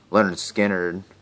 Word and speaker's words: Lynyrd Skynyrd: in the USA it's a cool cover actually Leonard Skynyrd pronounced Lynyrd Skynyrd this is the self-titled I think